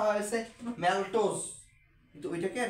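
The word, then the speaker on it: maltose: যেটা না এইটা উচ্চারণটা হইছে এইরকম মানে যদিও উচ্চারণটা হয়েছে ম্যালটোস কিন্তু ওইটাকে আর কি বাংলায় এরা কেমন যে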